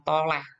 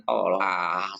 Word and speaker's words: toleh: Wong soleh karo wong toleh, bukan tolah, toleh.